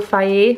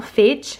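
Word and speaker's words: Fage: Talking about 0% fat, I've got some Total Faye, which is not phage, I've been pronouncing it wrong for years.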